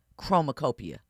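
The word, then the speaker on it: Chromakopia: I I don't know how to pronounce the name of Tyler the Creators album. Chromacopia.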